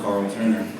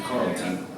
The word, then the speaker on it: Carl Turner: because my name is Carl Turner and when I say fast and fumble people think it's Carlton he's being called Carlton some people wouldn't even pronounce my name Carol just walk around my